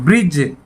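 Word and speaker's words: bridge: बारे में जैसे थे ब्रिज मैं यहां पर डी साइलेंट है ब्रिज बोला जाएगा ब्रिज और यहां पर डी की आवाज नहीं आ रही है तो बैठ जाता है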